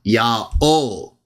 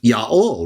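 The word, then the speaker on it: ΙΑΩ: in their text, into Iota Alpha Omega, Yah-O. Now, Yah-O, used by the Jews who wrote 4Q Leviticus B in the 1st century BCE, well over 100 years before Jesus started preaching. They understood either Yod He Wah or Yod He Wah He to be pronounceable as Yah-O, right?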